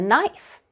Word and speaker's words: knife: knight rode horses midnight all of these words have silent K before M let's practice me